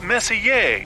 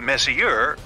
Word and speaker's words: Messier: Well, young lady, the M stands for Messier. Pronounce Messier, not Messier, as in, is your room messier than mine?